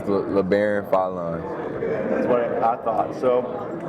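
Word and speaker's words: Labaron Philon: Cooper said, I just want to ask, I've heard your name pronounced so many different ways. Can we finally get the correct way? It's LeBaron Fallon.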